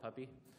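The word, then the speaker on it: Pupy: Python rat there called Puppy. I think that's how it's pronounced, but P-U-P-Y.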